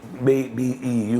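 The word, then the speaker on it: Mbeu: called beo it's spell m m b b b EU U be pronounce be okay it's a song called um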